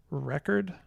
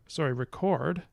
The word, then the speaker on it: record: So we can talk about a word like record with the stress here, and record with the stress here on the second syllable.